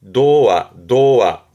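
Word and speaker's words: 童話: 발음은 도와.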